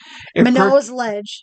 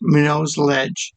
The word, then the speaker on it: Minot's Ledge: It's pronounced Minot. Minot's? Minot? Minot's Lighthouse. Minot's Ledge. Minot's Ledge.